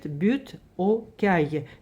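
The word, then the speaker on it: Butte-aux-Cailles: Le nom de ce quartier se prononce « butte aux cailles ».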